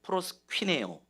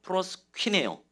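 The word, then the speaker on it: προσκυνέω: 자, 저를 따라서 발음을 한번 해볼게요. 프로스퀴네오. 자, 한 번 더 프로스퀴네오.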